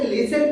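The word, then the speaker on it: listen: यहां पे ध्यान दीजिए दोस्तों, टी ई एन में हमारा सीधा टी साइलेंट होके लिसन पढ़ा जा रहा है, वहां पे हम सीधा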